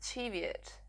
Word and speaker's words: Cheviot: So this is my, I think it's pronounced Cheviot. At least that is how Knit British pronounces it, and she knows everything about spinning.